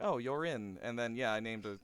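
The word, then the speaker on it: Jörin: um actually it was it was j-o-r-i-n and i meant for it to be pronounced um you're in but because of the umlaut i named it so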